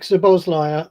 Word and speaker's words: Szoboszlai: Yeah, Dominic Szoboszlai, I assume that David is alluding to. Yeah, good Yep, pronunciation.